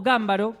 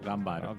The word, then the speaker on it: Gambaro: Eh, dicen que en italiano se pronuncia gámbaro. Eh, y nosotros acá nos la apropiamos como gambaro. Yo le voy a decir gambaro. Sí, gambaro. Pero también se le puede decir gámbaro.